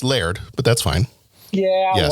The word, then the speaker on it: laird: It's pronounced Laird, but that's fine.